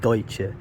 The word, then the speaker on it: Deutsch: The Pennsylvania Dutch, as they say, the mispronunciation of Deutsche.